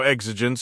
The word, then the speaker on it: exigence: That's exigence. Exigence.